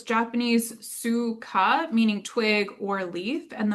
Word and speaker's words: Tsuga: Um and the genus is the suga uh and you don't really pronounce the t as like um we see in a lot of Japanese words. So it's Japanese suga meaning twig or leaf.